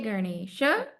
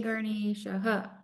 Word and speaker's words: Ganesha: Everybody, especially those here in the West Indies, his name is not Ganesh. So, I mean, you can call him whatever you want if you're best friends with him, but you could also know what his real name is. It's not Ganesh, it's Ganesha.